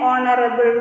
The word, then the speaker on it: honourable: we have to use, because H is a silent in this word HONOURABLE, honorable, and the pronunciation starts with O, and we know that